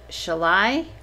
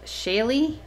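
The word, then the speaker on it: Shalie: e is that pronounced shall I no is that pronounced Shaylee yes okay Shaylee I would like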